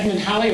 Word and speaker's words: Halley: And then in 1692, Edmund Halley, or Edmund Hawley as some pronounce it, put forth the idea